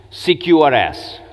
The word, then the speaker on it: CQRS: found out this morning how do you pronounce secure s okay thank peach over me with this now I want everyone to tweet this CQRS okay so domain layer